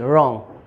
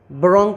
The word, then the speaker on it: wrong: ऐसे बहुत सारे वर्ड हैं, है ना, जैसे WRONG रॉन्ग, है ना। तो रॉन्ग में हम डब्लू साइलेंट क्यों कर रहे हैं, ब्रोंग क्यों नहीं पढ़ रहे हैं।